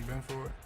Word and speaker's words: Benford: Such a We've been saying his name wrong the whole time. Trying to help this Bills We've been saying team Benford.